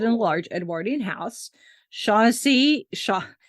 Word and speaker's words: Shaughnessy: a large Edwardian house Shaughnessy Shaughnessy it's not Chauncey uh not even spelled the same way Shaughnessy is named after